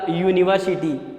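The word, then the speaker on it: university: हमें ध्यान इस वर्ड को पढ़ते समय, इसको रीड करते समय, जब हम इसका प्रोनाउंसिएशन करेंगे, जैसे मैंने पढ़ा यूनिवर्सिटी, ये यूनिवर, ये का साउंड आ रहा है, इसलिए ये जो है ये है हमारा व्यंजन है, ये का साउंड आ रहा है, ऐसे यूनिवर्सिटी।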